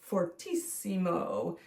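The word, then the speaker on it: fortissimo: we put two fs and that stands for fortisimo and what did I say about eimo it's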